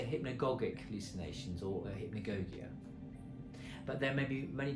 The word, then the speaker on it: hypnagogia: How do you pronounce hypnogogia?